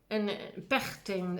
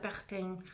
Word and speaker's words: Pechstein: Entonces se le une Emil Nolde, Kunamiet y Max Pechstein, Pechstein, en alemán la CH es una J, Pechstein o Pechstein, no sé, porque si es una zona se pronuncia de una manera, el dígrafo.